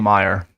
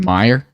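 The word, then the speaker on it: Maher: do you think what are your thoughts on Meyer on Meyer yeah m-a-h-e-r I think I'm pronouncing that correctly m-a-h-e-r yeah is that a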